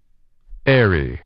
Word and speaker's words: Erie: and device and erie is it eerie or irie i've heard both what's the official pronunciation here airy airy airy heron granary canary crevice